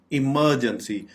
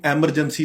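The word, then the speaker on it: emergency: इमरजेंसी इसको बिल्कुल भी एमरजेंसी नहीं बोलना चाहिए। एमरजेंसी ये बिल्कुल गलत प्रोनाउंसिएशन है।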